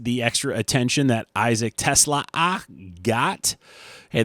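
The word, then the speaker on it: TeSlaa: Uh I liked the extra attention that Isaac Tesla got. Hey, that extra A is there. You might as well pronounce it.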